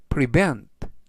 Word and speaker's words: prevent: 뜻이 되겠습니다 이번 단어는 prevent prevent prevent라고 발음하시면 되겠고요 이때 강세는 뒷부분에 있는 알파벳 2의 강세가 있습니다 그래서 prevent라고 발음하시면 좋겠고요 품사는 동사 뜻은 예방하다